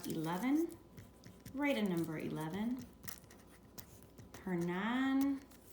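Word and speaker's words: Hernán: Hernan, with an accent on the A. Cortez with an accent on the E.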